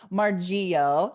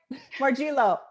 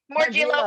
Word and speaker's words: Morgillo: have on with me today the beautiful margio did i pronounce that right more gilo more gilo it's all good dang it i even wrote